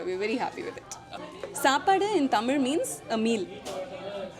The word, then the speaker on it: Saapaaduu: So 3 syllables seems to be very easy for people to pronounce.